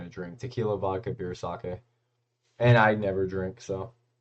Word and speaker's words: sake: Is it sake? Is that how you pronounce it? Sake. That makes sense. Actually, I always call it saki.